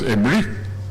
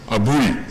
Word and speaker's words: Aburi: mountain and mountainous area known to ghanaians as ebri but rich nigerians the speaker included until recently have somehow been mis-educated into pronouncing a buoy how could it happen